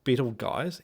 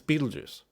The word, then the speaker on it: Betelgeuse: Betelgeuse? It's Betelgeuse.